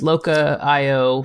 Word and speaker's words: Locha: Yeah, it is pronounced Locha. Oh, Locha. Okay, yeah, sorry. Yeah, because of the CH in Spanish is pronounced that way.